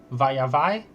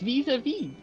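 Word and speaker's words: vis-à-vis: Also, it's vis-a-vis. Via vi? No, I'm pretty sure it's... No, I'm pretty sure it's pronounced via vi. No, it's vis-a-vis. I don't know. Yeah, it's vis-a-vis.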